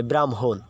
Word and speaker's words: ব্রাহ্মণ: ম টা আগে হ্যাঁ এ কারণে এখানে যে ম এর উচ্চারণ আগে হয়েছে ব্রাহ্মণ বুঝতে পারছো যদি হ